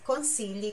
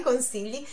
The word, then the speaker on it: consigli: A chi scambia i suoi consigli coi tuoi.